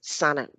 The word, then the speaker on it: Sana: say your name please is it sena or sana am i saying sana one of the few people who pronounced it right right off the bat so right